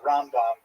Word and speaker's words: Rambam: Typically um and especially inkazim you can sort of distinguish the difference because we say ramban uh with the accent on the last syllable and rambom the accent on the first syllable.